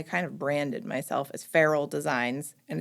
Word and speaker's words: Ferule: of branded myself as feral designs and it's pronounced feral kind of like the cat because I work primarily